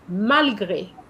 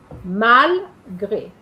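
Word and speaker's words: malgré: And it's the pronunciation is malgra. Mal gray as you can see.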